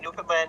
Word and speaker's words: Newfoundland: You could say it either way. Newfoundland, New Foundland. It's just it's Yeah, Newfoundland is arguably the funnier pronunciation.